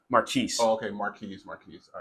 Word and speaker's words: Marques: so, Mark, is it Marcus? Marquise.